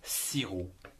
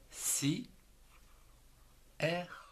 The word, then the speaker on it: sirop: Avec la syllabe si, vous avez le mot sirop. S-I, si, R-O-P, en trois syllabes, on ne prononce pas le P, du sirop.